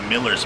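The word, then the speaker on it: Mueller's: here at Miller's Barbecue we learned the correct way to say the barbecue today it's Miller's Barbecue the big difference with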